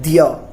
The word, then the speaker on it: द्य: इसका उच्चारण कैसे किया जाता है, दिय।